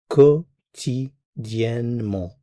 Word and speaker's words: quotidiennement: So the word daily is quotidiennement. It looks very long, but it's really just 4 syllables.